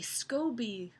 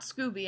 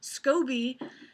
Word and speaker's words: SCOBY: and something called the scoby I believe it says scoby it's not Scooby I know that scoby I believe is the correct pronunciation some people call it